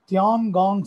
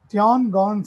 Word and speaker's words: Tiangong: How do you pronounce this? Tiangong Station. I repeat, Tiangong Station.